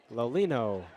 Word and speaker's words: Lolino: Lolino. Louis Lolino. How about that? That's how you say it.